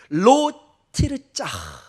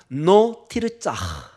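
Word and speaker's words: לא תרצח: 로 티르짜. 한번 발음 한번 해볼까요? 짧으니까. 노 티르짜.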